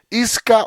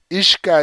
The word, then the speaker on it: Isca: llama o la llaman Isca o Ishka. Ishka es como se pronuncia, pero Isca nos la traduce aquí Isca.